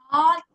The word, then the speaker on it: though: These two letters make a sound of their own. It has the sound, the sound similar to the word the.